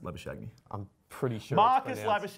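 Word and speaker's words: Labuschagne: - lab ashamed to make their tester boos lavish agony is pronounced liver showed me I'm pretty sure Marcus lavish agony in head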